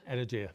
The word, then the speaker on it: Energia: Do you pronounce it Energia? Energia.